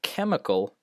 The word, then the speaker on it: chemical: While the ch sound, often with a ch, that's ch, but the word chemical, obviously not pronounced chemical.